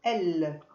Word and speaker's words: elle: Petite remarque, le E final de elle ne s'entend pas. De même pour elle au pluriel, on prononce elle.